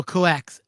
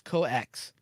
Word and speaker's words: COEX: No, coax. It's COEX. D is silent. So it's coax. It sounds like code X, but actually it's coax.